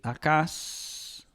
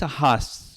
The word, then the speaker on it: Ahaz: Yo pienso más bien que es Ahaz, ¿verdad? Ahaz, porque esto se puede pronunciar como una H, Ahaz, que puede llegar a ser la Y después. Ahaz, que sería el correcto.